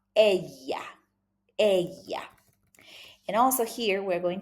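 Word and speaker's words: ella: Also the double L is like a E. So it's very soft. Aya.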